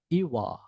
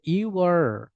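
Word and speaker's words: you're: ইওয়া, ইওয়া, ইওয়া। ওকে, ইওয়া, এটা হচ্ছে British. হ্যাঁ, ইউয়া মানে হচ্ছে ব্রিটিশ। আর আমেরিকানরা হচ্ছে আর উচ্চারণ করে, ওরা বলে ইউয়ার, ইউয়ার, ইউয়ার।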